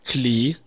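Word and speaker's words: כְּלִי: есть меняется у нас окончание им на Эй и мы слышим клей Например я хочу сказать Музыкальные инструменты это будет клей Негина обратим внимание что музыкальный инструмент кли нагина и музыкальные инструменты клей гина произносятся по-разному но пишутся одинаково то есть по контексту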